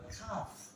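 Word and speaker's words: calf: ছিল কাল কিন্তু দেখেন এখানে এল টা সাইলেন্ট হবে সেজন্য হবে কি খাফ সির উচ্চারণে প্রথমে থাকলে আপনি ক মানে সির উচ্চারণ করতে পারেন বা ক উচ্চারণ করতে পারেন কাফ বা কাফ এই দেখেন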